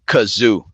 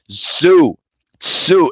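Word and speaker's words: Tszyu: are you calling him kazoo because that's what that's what that's what his dad's name no his name is Zoo sue the the t is silent it's not kazoo yeah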